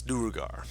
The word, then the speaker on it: Duergar: Because I was sitting here trying to spell it like the Skyrim fucking monster. No, it's Duergar.